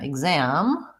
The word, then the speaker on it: exam: a word like example so here again exam exam we have second syllable stress and we have the GZ sound great question and something